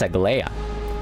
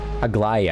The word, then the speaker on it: Aglaya: That's Aglaya. Aglaya, I mean. That's how it's pronounced more properly.